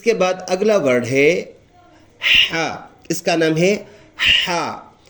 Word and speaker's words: ح: اس کے بعد اگلا ورڈ ہے ہا. اس کا نام ہے ہا. یہ ہا کا لفظ ادا ہوتے ہیں گلے سے.